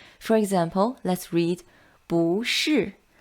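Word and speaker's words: 不是: to address is 不 It changes into the second tone when it's followed by a fourth tone syllable. For example, let's read 不是不会 Very good.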